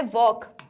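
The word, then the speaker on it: walk: कि हमारा होता है वॉक, हमारा होता है टॉक, तो वॉक और टॉक में क्या होता है, जो एल है हमारा वो साइलेंट लेटर है, राइट, उसे हम प्रोनाउंस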